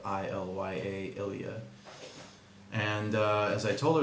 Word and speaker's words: Ilya: start an episode, I love you always, because it's spelled I-L-Y-A, Ilya.